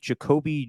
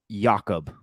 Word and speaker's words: Jakob: He has been released, and they're going with Jacoby Jacobs, the old fullback in New England, to come to the Raiders. It's actually Jakob.